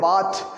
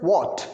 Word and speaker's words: what: इसको बहुत सारे बच्चे जो गलत प्रोनाउंस करते हैं, वो कहते हैं वाट, दैट इज नॉट अ वाट, दैट this is व्हाट else मतलब होगा और क्या,